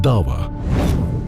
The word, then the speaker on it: da'wa: Dawa is the way it's pronounced.